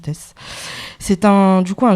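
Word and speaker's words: Theys: ça s'écrit Nino Nino et Tess ça s'écrit T H e y s non mais ça se prononce test c'est un du coup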